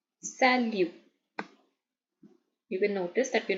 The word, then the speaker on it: salut: someone in French it's salute salute you can notice that we not speaking the T we not saying it as salute guing it salute that t is silent so please focus on